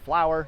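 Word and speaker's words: FLOWR: We pronounce that acronym, oddly enough, as a flower.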